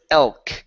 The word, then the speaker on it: elk: And your last one here is elk. Give me an L sound here instead of elk. L. It's L. Okay, touch your tongue to the top of your mouth.